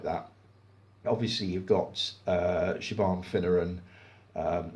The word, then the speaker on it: Siobhan: obviously you've got uh Siobhan finneran um it's pronounced chiffon I always look at it as sire bomb Siobhan finneran Michelle Holmes George